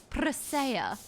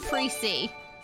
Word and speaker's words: Presea: So Jeeth taught me Presea, not Pre-C.